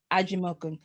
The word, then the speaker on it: Ajimokun: for butchering anyone's name today so gift please pronounce your last name for me angie milton aji malcolm so you see i'm i'm very particular about